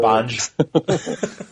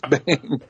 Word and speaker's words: Bang!: If somebody comes up to me and they're like, "Is it Bang G or Banj?" Yeah, Bang exclamation point. I'm like, no, it's Bang. Well, the opening incident lets you know right away that it's Bang.